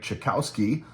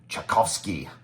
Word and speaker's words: Ucczajk: Studio members uh Greg chowski uh or in Polish he says it's pronounced chovsky so he's a big